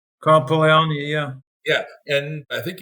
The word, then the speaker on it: Polanyi: Polanyi, is that how you pronounce his name? Carl Polanyi, yeah.